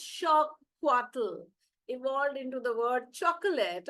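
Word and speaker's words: xocolatl: monuma and Astic word for it Z plle pronounced shattle evolved into the word chocolate oh that's interesting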